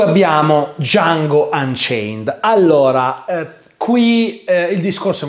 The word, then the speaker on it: Django: si chiama e dice django e allora nero chiede sai come si scrive dj anni o la di e muta e franco nero risponde